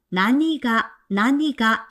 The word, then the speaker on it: 何が: 자, 근데 이 낭이란 표현은 뒤에 조사 가를 만나면 난가 발음이 불편해서 나니가 라고 발음하셔야 돼요.